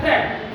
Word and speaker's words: threat: इसका प्रोनाउंसिएशन होता है थ्रेट।